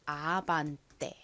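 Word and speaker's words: Avante: 어떤 차일 예상해 보세요 이것은 바로 아반 떼입니다 아반떼 가장 앞에 a 아 소리 나고가 진동이 들어간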